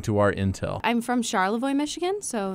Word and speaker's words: Charlevoix: I'm from Charlevoix, Michigan, so it's Way up north. Yeah, way My up goodness. north. Another word that gets mispronounced often. Yeah, Charlevoix? What is that? Charlevoix.